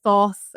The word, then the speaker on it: Thoth: whether you're a Marseille, a Thoth, or Toth, depending on how you pronounce it, or a Rider-Waite-Smith person,